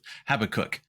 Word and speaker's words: Habakkuk: And if you're wondering how to pronounce Habakkuk, I remember it by saying I have to cook. So that's how I come up with Habakkuk.